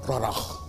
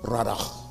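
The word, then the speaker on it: רדה: It's pronounced radah in Hebrew. Radach.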